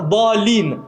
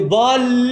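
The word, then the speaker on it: ḍāllīn: Même une shadda, 2 lettres collées, on ne peut pas la prononcer comme si c'était qu'une lettre. Par exemple, wala dalin, on n'a pas le droit de dire wala dalin. C'est pas dalin, c'est dalin, il y a une shadda sur le lam.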